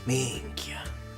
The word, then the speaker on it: minchia: He said it exactly like a Sicilian would. He has a proper Sicilian accent when it comes to the way he pronounces it. Minchia.